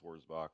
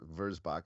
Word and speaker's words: Wurzbach: Wurzbach, yeah, probably the German pronunciation with a V. Yeah. Yeah, more of a V sound. Yeah, Wurzbach.